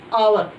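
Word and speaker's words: hour: पहले हमने लिखा है आवर। आवर का मतलब है, यानी कि यहाँ पर एच क्या है, साइलेंट।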